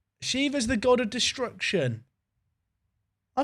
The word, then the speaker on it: Shiva: It's Siva, not like Siva. It's not it's pronounced Shiva, not Shiva. Okay, people need to learn about how to write stuff out phonetically, chat. So it's Shiva is what you're telling me, not Shiva. It's like a short I sound.